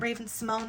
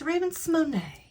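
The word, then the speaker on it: Raven-Symoné: And she said it's because it has the little accent on the E. So, fun fact, it's not Raven Simone, it's Raven Simone.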